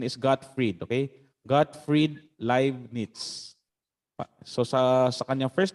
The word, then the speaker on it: Gottfried: Okay, so yung kanyang pronunciation is Gottfried, okay? Gottfried Leibniz.